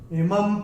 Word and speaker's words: इमं: अक्षर है प, और अनुस्वार के बाद जब प आएगा तो अनुस्वार का उच्चारण होगा म। तो ये हम अपनी किताब में ये भी नोट करके रख सकते हैं। इमं प्राप्य भजस्व माम, ये ऐसे करके आएगा।